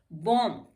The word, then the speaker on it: bomb: बॉम्ब, बॉम्ब को हम बॉम्ब बोलते हैं, बॉम्ब नहीं बोलते हैं, यहाँ भी साइलेंट हो जाता है।